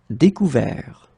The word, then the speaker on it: découvert: Découvrir, découvert. Okay, so you can see that final T is not pronounced and the sound is quite open here.